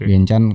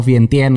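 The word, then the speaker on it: Vientiane: ibuotanya di sana atau Vien Tien gitu ternyata gua juga bar tahu bacanya ternyata Vien Chan kalau orang sana kalau Tien tuh Chan Iya heeh vientien itu bahasa Inggris kalau orang lokal namanya vienchan nah di vienchan itu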